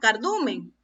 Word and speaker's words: cardumen: Vamos a ver cuántas sílabas tiene la palabra cardumen. Cardumen. 3 golpes de voz tiene esta palabra. ¿Y dónde está la mayor fuerza de voz? ¿Dónde está el acento? En la sílaba du.